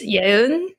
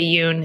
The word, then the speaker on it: Yeun: It's pronounced Yeun, but you could also just say Yoon if that's easier.